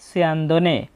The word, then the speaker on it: স্যন্দনে: দন্তস্বয়ের সঠিক শুদ্ধ উচ্চারণ হচ্ছে বাংলা স বর্ণের মতো এবং প্রথম বর্ণের সাথে জফলা থাকলে কার চিহ্ন ব্যবহৃত হয় ই অ, তাই এখানে ছয় রস্যি বলবো এবং পরে অয়ের মতো সাউন্ড আসবে সিয়া।